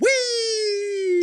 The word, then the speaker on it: Weee!: It's spelled WEEE exclamation point. Whee!